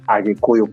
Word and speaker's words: Kikuyu: mostly in Kenya called the Kikuyu community, or other people can pronounce it Agikuyu community.